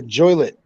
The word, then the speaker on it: Joliet: was down in uh Joliet I believe oh yeah the joylit Rhymes Juliet you ever go to